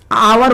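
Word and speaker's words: hour: letter आप देखना पड़े इसको एच को छोड़ना पड़ेगा क्योंकि हम लोगों को आवर बोला जाता है हावर नहीं ओ ओ है तो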